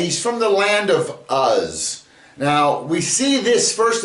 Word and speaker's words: Uz: And the name Uz is spelled Ayin Tsadi. And Ayin can take on the sound, and the Tsadi is not a Z, it's a Tsa, like in Sar.